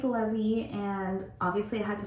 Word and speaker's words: Levi: So it's spelled like Levi, and we've already had to correct so many people, but his name is Levi, and obviously I had to stick with the L names.